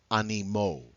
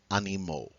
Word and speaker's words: animaux: Animal becomes animaux. Animal becomes animals. All right? So notice that AUX is pronounced O, journal, journaux, animal, animaux.